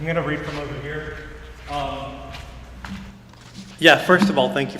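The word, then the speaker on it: hir: So throughout the book, the protagonist, I refer to the protagonist with the non-gendered pronouns of G and here, Z-H-E and H-I-R. That's how I pronounce them.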